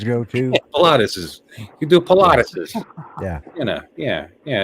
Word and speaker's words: Pilates: I guess that's okay patus I said patus I I gave it an extra syllable I it not like some sort of exercise that women always go to peses you do Pilates yeah you know yeah